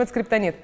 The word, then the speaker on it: Скриптонит: Группа Скриптонит, Скриптонайт, как правильно? Потому что, ну типа, на английском теперь пишется все сложно. В общем, это Скриптонит.